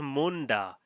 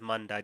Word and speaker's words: Munda: what it is uh it should be like it's spelled Munda but she's saying it as Manda just so you know